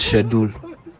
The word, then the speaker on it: schedule: pronounce the word is schedule schedule I said shedule pronounce the next word sorry sir idiom idioms